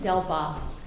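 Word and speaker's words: Del Bosque: it how is it what is the proper pronunciation delbosque delbosque okay sorry that's okay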